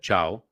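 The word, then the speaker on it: Thiaw: tweet uh thread about uh malik ciao that's the way he's supposed to pronounce his name but this is not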